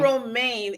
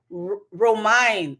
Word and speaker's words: Romine: He says I'm saying his name wrong. It's Romine. Oh, Caden Romine. Caden Romine. I guess it's the Romine. Okay. When I see it, I say Romaine, but it's Romine.